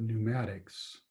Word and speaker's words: pneumatics: then we call it pneumatics and notice there's a p at the beginning of pneumatics it's it's a silent p but make sure you